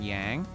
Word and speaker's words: Yang: to be useful on yang or young as they pronounce it in this game for some weird reason yourselves a silver hourglass